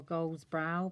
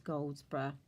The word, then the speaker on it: Goldsbrough: from a lady called Denise Goldsbrough, or Goldsbrough, but I think it's pronounced as Goldsbrough.